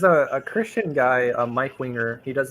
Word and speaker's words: Winger: you you said Mike Winger okay yeah Winger Winger Winger yeah no Wier Winger Winger okay wait how do you spell that no W Wing like like a bird's wing wing wing oh oh